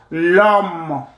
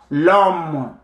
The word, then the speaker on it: l'homme: So you drop the first vowel, you put your apostrophe here, and it becomes l'homme, l'homme. The H is silent, then pronounce the H in French.